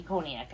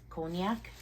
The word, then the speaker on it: cognac: that's cognac pretty sure I don't think there's a y in there cognac cognac cognac cognac I'm not